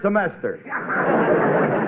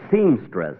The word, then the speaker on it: semester: probation let's say third semester oh Phil uh say that word again will you semester say it once more semester you know Folks at rehearsal he kept pronouncing it seamstress imagine seamstress a natural mistake for a